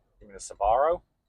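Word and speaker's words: Sbarro: I I've only ever heard it pronounced Sabarro, but yeah, there it is.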